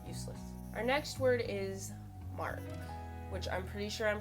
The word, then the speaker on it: marc: to pronounce it sure it's mark m-a-r-c mark mark mark really simple just wanted